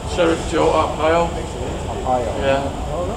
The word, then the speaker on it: Arpaio: How do you pronounce the old sheriff's name? Sheriff Joe Arpaio.